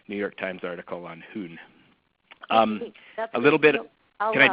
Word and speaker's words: Jun: I believe it's pronounced Jun, but it's spelled Jun.